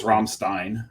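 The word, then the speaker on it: Rammstein: band is Ramin R but in German it's Ramstein um and that's the way that Greg's pronounced it R romstein Rin um but what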